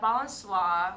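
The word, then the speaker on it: Balançoire: And that's spelled BALENCOISE? BALANCOIRE.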